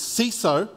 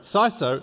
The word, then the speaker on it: CISO: sigh so it is C so sorry sigh so it is alright so I was